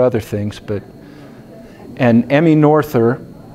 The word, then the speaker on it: Noether: And Emmy Noether, some people call it Noether. I guess that must be a German pronunciation.